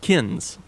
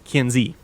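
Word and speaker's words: Kinze: correct him on that is not kin it is kiny not that I mind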